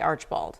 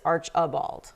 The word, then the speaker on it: Archbald: people say it, because I was going to say Archibald. Yes. But it's Archibald. Like there are 3 But syllables that in that middle word. syllable's real quick. It's got to be quick. You don't want to Super overdo it.